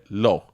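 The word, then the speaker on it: l'eau: do you say water well I say low it's l apostrophe e a u okay like like like perfumes right okay but it's it's one of these words like I could say low but the way that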